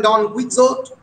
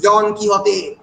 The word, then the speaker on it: Don Quixote: অনেক ধরনের পিকারেস ফিকশন পরবর্তীকালে লেখা হয়েছে, সার্ভেন্টসের বিখ্যাত পিকারেস ফিকশন, অনেকে বলে ডন কি হতে, ইংরেজি উচ্চারণ ডন কুইক্সোট, exact Spanish pronunciation is ডন কি হতে, দ্য ইঞ্জিনিয়াস জেন্টলম্যান ডন কি হতে অফ লামানচা।